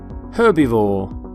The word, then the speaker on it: herbivore: Not herb, by the way, you pronounce the H in the word herbivore.